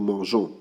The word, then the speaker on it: mangeons: So what we are going to do here is add a little e, so the pronunciation can be nous mangeons and remain intact.